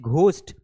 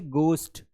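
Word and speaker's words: ghost: उसी प्रकार जैसे आप कई बार बोलते हैं घोस्ट, एक्चुअल में ये घोस्ट नहीं है, ये है गोस्ट। क्या है? गोस्ट।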